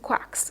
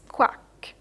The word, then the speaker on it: quack: have in wax and quacks okay you say wax quack wax quack and not walks qua right the reason for that